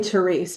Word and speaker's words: Therese: Is it Therese or Terrace, or how do you say it? I would say Therese, but I'm a biblical Therese.